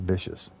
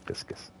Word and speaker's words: viscous: It's not vicious. It's spelled differently. It's viscous.